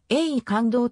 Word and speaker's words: 永観堂: ことに由来するなお永観堂は漢音読みで ae 感動と読むが栄冠立志の栄冠は号技読みで羊羹と読む禅林寺の本尊